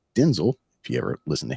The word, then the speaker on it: Denzel: Denzel Washington which his first name is actually pronounced Denzel if you ever listen to him um and